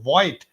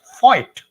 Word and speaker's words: Voigt: he told that, Shaunak, you cannot tell it as Dr. Woldemar Voigt, but you should pronounce it as Voigt.